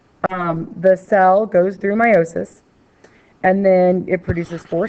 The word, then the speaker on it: meiosis: into the next generation meosis is the gam or actually pronounced meiosis I apologize the gamet formation